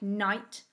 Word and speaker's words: knight: k and w so a k becomes a silent letter if it comes before the letter n in a word and the k is at the start so like knight knuckle knowledge and knife this means we can't hear the letter k when we say the words they all sound like they start with an n with the w the